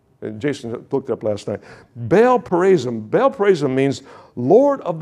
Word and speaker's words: Baal Perazim: Baal Perazim.